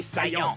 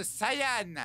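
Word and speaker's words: Saiyan: chose que tu perdras prince des saillants ça se prononce Saian je m'en fous je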